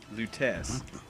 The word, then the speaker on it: Lutece: Lutece.